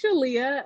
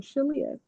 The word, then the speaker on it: Shaleyah: that shop but it's shalia um what i like to tell people is that it rhymes with aaliyah and that kind of helps to cement with the word association but yes i'm shilia okay so um you